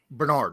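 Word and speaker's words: Bernhard: don't care if it's uh bernard is that how you pronounce it yeah bernard ryman bernard yeah okay just making sure because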